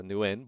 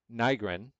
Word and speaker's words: Nygren: I thought it was a Nguyen, but it's a Nygren, right?